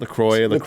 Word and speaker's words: LaCroix: How do you pronounce it? LaCroix.